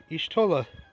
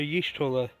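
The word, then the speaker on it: Y'shtola: This time should be Yshtola, or Yshtola, whichever way you pronounce it.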